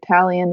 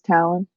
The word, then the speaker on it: Talion: That's how we pronounce it, right? Talion versus Talon.